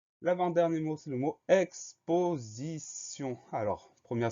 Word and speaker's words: exposition: Ensuite, on va avoir le son Z de exposition. Le son Z s'écrit avec un S comme il est entouré de deux voyelles. Le S se prononce Z.